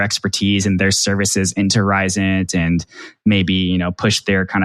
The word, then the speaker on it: Risant: I think Risant is how you say it, because it sounds like, they're really trying to push the needle forward from a population health perspective.